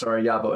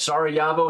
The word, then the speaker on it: Sarajevo: It's pronounced Sarajevo and Joachim. Got it. Sarajevo and Joachim.